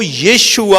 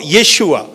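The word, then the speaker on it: Yeshua: लेकिन जो right pronunciation जो इब्रानी में आता है वो यीशुआ आता है। यीशुआ।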